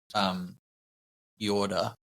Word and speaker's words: Jordet: of the book, but the author is called Jorda. It's Norwegian, so it's spelled Jordet.